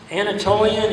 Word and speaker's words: Anatolian: Anatolian is spelled A N A T O L I A N.